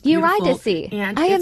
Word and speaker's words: Eurydice: pronounced It's Eurydice.